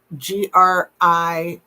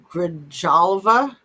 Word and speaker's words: Grijalva: Adelita Grijalva. Grijalva.